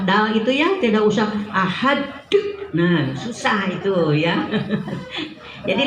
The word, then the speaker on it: ahad: Ada yang bacanya sampai sulit Bu, ahad. Sampai pakai h gitu ya. Ahad. Jadi tidak usah seperti itu.